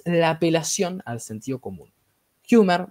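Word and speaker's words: Huemer: apelación al sentido común humer muchas veces o hemer como le quieran Llamar creo que el apellido se pronuncia humer Michael humer este los libertarios nos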